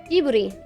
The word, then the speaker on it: Ghibli: Jiburi.